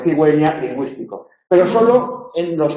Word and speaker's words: cigüeña: Sin diéresis aquí diríamos ciguela, o cigueña, en lugar de cigüeña, lingüístico.